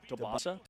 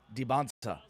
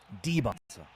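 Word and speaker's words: Dybantsa: Debbansa. AJ Debansa. Not Dansa. Not Dansa. Not Dansa. Debbonsa. Debbonsa. AJ Debonsa. AJ with an emphasis on the D Debbansa.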